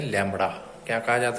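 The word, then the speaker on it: lambda: इट is denoted by symbol, this symbol, and pronounce as लैम्बडा।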